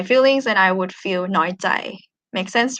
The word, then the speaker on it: น้อยใจ: And this one น้อยใจ high tone, น้อยใจ.